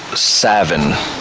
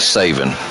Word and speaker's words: Savin: And if Drew is still in here and Evan and everybody else, for the record, my name is pronounced Savin, not Saven.